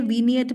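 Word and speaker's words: vignette: वजह से तो ये वी निएट बना समझे तो आईजी एन वाला साउंड है वो ईन में चला गया तो व निएट बन गया वो चीज ठीक है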